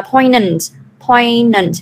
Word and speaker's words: poignant: Mình đọc là poignant, chữ g nó không có đọc. G nó silent.